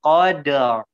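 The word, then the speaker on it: قدر: Qadar itu kalau mau ditipisin, tapi dia ditebalin qadar. Nah, langsung qadar. Jadi qadar ya, bisa di slow motion. Qadar. Jadi ra-nya langsung naik ke atas.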